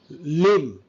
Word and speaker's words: limb: Limb. B is silent. Limb.